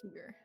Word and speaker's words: Tyr: And you may call me Tyr. Thank you. Thank you. Tier, like Tear. Tyr. Oh, Tyr. Ooh, but Mm-hmm. pronounced like that? Yep, Okay. pronounced Tyr.